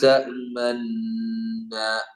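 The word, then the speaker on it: تأمنا: ലാ തഅ്മന്ന ലാ തഅ്മന്ന മാ ലക ലാ തഅ്മന്ന മാ ലക ലാ തഅ്മന്ന.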